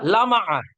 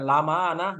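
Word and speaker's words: لامعة: Apa bacanya? Lama'ah. Bukan lama'ana, bukan lama'ana lain itu gitu.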